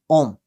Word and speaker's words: ohm: और इसको हम प्रोनाउंस कैसे करते हैं, OHM, ओम, ये इसकी प्रोनाउंसिएशन है।